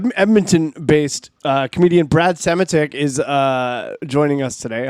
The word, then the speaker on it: Semotiuk: uh very funny edmonton based uh comedian brad sematic is uh joining us today hello brad how